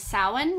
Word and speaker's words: Samhain: Irish person we also recognize soin which it's spelled like Samhain it don't say that